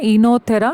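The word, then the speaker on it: Oenothera: Enothera lamarckiana. O is silent.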